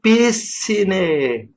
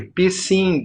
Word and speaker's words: Piscine: berros, gritou meu nome, acentuando a primeira sílaba em vez da segunda, como na palavra francesa. Olha aí, Piscine! Resultado, o que se ouviu foi pissing, mijando, em inglês, a língua que todos falávamos ali.